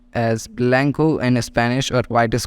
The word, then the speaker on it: blanco: can see that here C is pronounced as k okay it means whenever